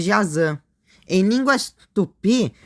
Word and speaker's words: Jaci: Uma curiosidade em línguas guaranis, o Y se pronuncia como ã, por isso tô chamando jáci de jazã.